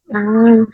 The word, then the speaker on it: hai: Hi in English is similar with hi, but in Indonesia is H, A, and I. Hi. Hai, hai.